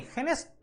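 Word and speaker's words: finished: नॉट फिनिश्ड, done नहीं, फिनिश्ड, ट पढ़ते हैं, ईडी वहां पर लास्ट में एसएच के बाद जब लगता है तो उसका प्रोनाउंसिएशन ट होता है, फिनिश्ड माई वर्क येट।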